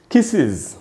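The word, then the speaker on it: kisses: फिर है दोस्तों, अगर कोई वर्ड डबल एस से खत्म हो रहा हो तो उसके एंड में अगर हमने एस या ईएस लगाया तो उसका भी उच्चारण इज की तरह होगा। जैसे किसेज, किसेज, किस डबल एस से खत्म हो रहा है, इसके एंड में ईएस लगाया प्लूरल बनाने के लिए, बहुवचन बनाने के लिए, तो इसको पढ़ेंगे किसेज, इसको किसेज नहीं पढ़ना चाहिए।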